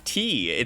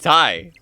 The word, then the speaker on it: Ty: Like, if somebody wanted to call me T, that's not my name. My name is not T, it's Ty.